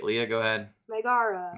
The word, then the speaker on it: Megara: Megara. Megara.